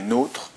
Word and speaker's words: nôtre: partie théorique donc nôre qui se prononce pas notre mais nôre avec un accent circonflexe